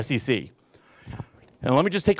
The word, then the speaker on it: SEC: States it's just pronounced SEC okay every and every government agency in the u.s. is pronounced by the letters of the the initials are pronounced as the letters okay so this FBI